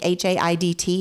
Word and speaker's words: Haidt: Jonathan Haidt, I think Haidt is how you say his name.